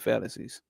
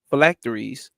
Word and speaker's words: phylacteries: No, that ain't fallacies. Phylacteries.